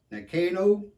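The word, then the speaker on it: Nano: this here's a and I prob pronounce this wrong Neno Neno knives made in Japan n a n o this knife was gifted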